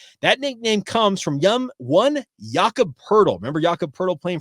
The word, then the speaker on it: Jakob: back and said, "Hey, Jake, your name's Jake. His name is Jakob. Well, it's German, obviously German pronunciation of Jacob. So why are we not calling you Jak, a.k.a. Jake?"